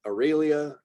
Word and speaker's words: Aralia: Opossum, Aralia. Some people go with Aurelia. Again, kind of I think we tend to fall into our native language, like vowel pronunciations in particular. So Auralia or Aurelia.